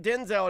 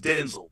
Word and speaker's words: Denzel: online, but he evidently his real pronunciation of the name is Denzel, but we just want to call him Denzel.